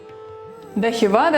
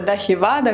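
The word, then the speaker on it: दही वड़ा: В разных штатах оно произносится немного по-разному, название этого блюда. Где-то может быть таир вадай, где-то дахи вада, где-то дахи бара и даже дой бора. Но самое распространенное название – это дахи вада.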